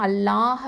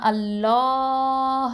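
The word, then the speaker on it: الله: அப்போ இதை என்ன பண்ணனும் அல்லாஹ் அப்படின்னு சொல்லும்போது அதுக்கு முன்னாடி முன்னாடி உள்ள எழுத்து வந்து ஃபத்ஹா பெற்று வந்துச்சு அப்படின்னு சொன்னா அந்த அல்லாஹ் வார்த்தையை என்ன பண்ணுவோம்னா நல்லா தஃப்ஹைமா உச்சரிப்போம் அதாவது வல்லினமா உச்சரிக்கணும் அப்போ மாஷா அல்லாஹ் அப்படின்னு சொல்லி வாயால ஓபன்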